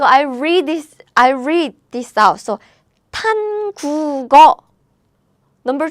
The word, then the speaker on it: 한국어: This sound is pronounced as G sound.